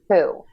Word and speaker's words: who: but we also have a very common exception here, which is this WH in the word who.